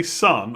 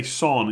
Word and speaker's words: Son: i said that because i used to say sun all the time for hyung mean sun and i've been training myself to say son instead people keep saying i'm